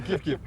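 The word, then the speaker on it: kif-kif: C'est pas kifkip. C'est pas KFK. Oh là là là, j'aime bien. Kif kif.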